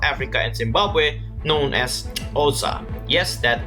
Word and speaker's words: Xhosa: The way I remembered this is because of the cool click language used in South Africa and Zimbabwe, known as Xhosa. Yes, that X is pronounced as a over there.